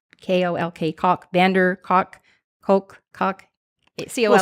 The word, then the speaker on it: van der Kolk: some of your listeners, but it's by Bessel van der Kolk, K-O-L-K, Kolk, van der Kolk, Kolk. C-O-L-K. We'll spell it.